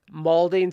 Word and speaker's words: malding: l d so it's molding so it's mad and bald so you're so mad you're balding so it's molding all right I'm going